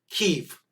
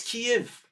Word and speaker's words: Kiev: pronunciation but you also can't say the cnn pronunciation it's not keef it's not keith i know i've been there i am friends with the former president of the ukraine it's not keef it's kiev it's kiev kiev not kiev kiev so their